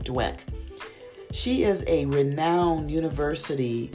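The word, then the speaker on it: Dweck: According to Carol S. Dwick, if I pronounced her name right, Dwek.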